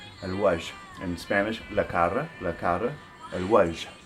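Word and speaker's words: الوجه: The word for the face in Arabic is al-wajh, al-wajh, al-wajh. In Spanish, la cara, al-wajh. And the reason I like this word is because it ends with a soft H.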